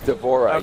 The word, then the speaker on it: D'Vorah: to do is it how you how' you pronounce her name d'vorah is that right d'vorah yes what's the Swarm Queen variation she's like